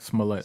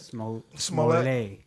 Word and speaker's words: Smollett: Before we go into to Jussie and the what's how do you pronounce it? That was is it Jussie? Jussie. Smollett? Smollett. Smollett.